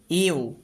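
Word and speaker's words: ewe: ইউ, খেয়াল করো এই যে উচ্চারণটা রয়েছে এটার উচ্চারণ হচ্ছে ইউ, তো ই ডাব্লিউ একসাথে আছে, উচ্চারণটা ইউ এর মতো হচ্ছে, তাই এর পূর্বে এ আর্টিকেল লাগবে, নিয়ে বলবো ইউ মানে একটি স্ত্রী ভেড়া।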